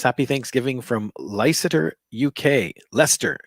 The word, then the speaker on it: Leicester: thanksgiving from lysator uk leicester is is how it's pronounced lester uk this is what